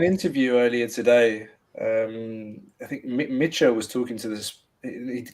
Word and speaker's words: Michel: Michel, which I think I was calling him Michel for years, but it's actually how Costa pronounces it. Michel.